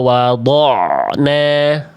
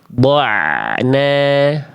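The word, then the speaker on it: وضعنا: dod wa wad wa wadna ya harusnya wa wad'na Na bukan do dna jangan ke bawah tebal.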